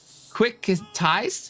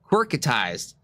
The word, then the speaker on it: Quirkatized: We are going to send it over to Quickatized? Is that how you say his name? No, I missed an R. That's why I was confusing myself. Quirkatized.